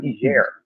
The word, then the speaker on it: Niger: I call it Niger, the French pronunciation.